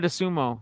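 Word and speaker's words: Dosunmu: uh chicago bulls boy ayo how do you pronounce his last name the sumo the sumo ayo de sumo so that's like his thing they should play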